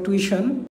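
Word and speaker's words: tuition: দেখেন যে টুইশন্যা এটা অনেকে ভুল করে টিউশন বলি আমরা কিন্তু এটা হবে টিশন এভাবে মনে রাখবেন টিশন দিয়ে সিগারেট বানান হচ্ছে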